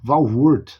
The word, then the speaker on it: Walvoord: Walvoord, né? Eu acho que é assim a pronúncia, é uma autoridade quando você fala de escatologia.